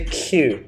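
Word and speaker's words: queue: on a q q quite interesting by the way in spelling like q-u-e-u-e yeah but we just say q that's the beauty of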